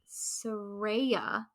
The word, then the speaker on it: Saraya: So next match up, we have Saraya taking on. She said it right, people.